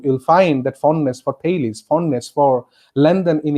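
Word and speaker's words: Thales: term th al es but it should be pronounced as Talese yes in juvenile star satire ambitious is the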